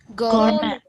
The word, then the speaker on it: gourmet: So be careful about the pronunciation. The last T is silent. The stress is on the first syllable and the R is silent. Why is R silent? Because there is a consonant sound coming after letter R.